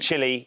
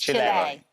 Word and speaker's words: Chile: It's not Chile, it's Chile.